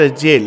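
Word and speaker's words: gaol: जगत एक जेल है इसमें स्पेलिंग कुछ लोग देख रहे होंगे जी ए ओ एल बट it's pronounce जेल इसमें दोनों जे ए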